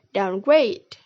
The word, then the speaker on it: downgrade: The primary stress is placed on the second word and the secondary stress is on the first word, like in the word downgrade. Oke, slide selanjutnya adalah exceptions bersama aku, Caca Khoirunnisak.